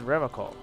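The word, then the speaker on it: Revachol: feet he pronounces revercon with a hard k unlike other people serious question time this man is no innocent no one is he said revocal i like to pronounce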